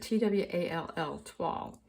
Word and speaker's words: Toile: You pronounce it tw L.